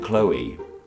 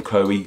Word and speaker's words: Chloe: ends with OE and normally words ending with OE make like an o sound right with toe and woe and the name Joe as well and we